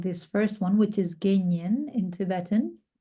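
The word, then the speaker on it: དགེ་བསྙེན: first one, which is Genyen in Tibetan. So it would be like Ge, ge, and then Nyen would be like Nyen. So something like that, Genyen, if you want to transliterate it.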